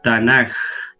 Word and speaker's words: Tanaj: la palabra pero como la k no se pronuncia en el griego es tanaj se entiende ahora más